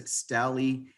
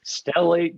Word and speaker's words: stellate: gonna be talking about what is steli ganglion blocks it's called stellate ganglion blocks i mean i